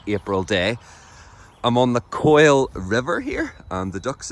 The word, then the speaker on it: Quoile: It's not pronounced Quoile or Quail, it's pronounced Quoile, as in C-O-I-L.